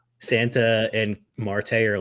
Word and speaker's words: Marte: Marte.